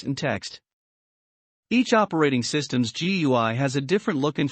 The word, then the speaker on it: GUI: systems use a graphical user interface or gui pronounced gui a gui lets you use your mouse to